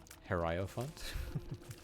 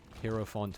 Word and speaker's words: hierophant: like the hierophant until i had the guy say it herrio font i sort of like changed how i pronounced it like hero font hierophant hero font whatever